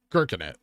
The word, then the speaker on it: Gherkinit: Gherkinit, like gherkin and it.